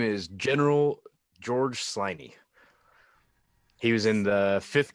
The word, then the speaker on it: Sliney: the Indian Wars tiny now how how do you spell that s-l-i-n-e-y just like it sounds okay because it's if you're not listening carefully it sounds like slimy and I'm thinking George